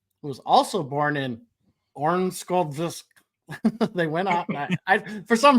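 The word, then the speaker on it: Örnsköldsvik: was also born in Ornskoldvisk. They went out. For some reason, I just turned it Russian. When you pronounce that, you do it as if like somebody's choking you.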